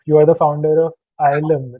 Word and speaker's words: YLEM: for people who do not know about you, you are the founder of YLEM, right? That's how it's pronounced, right?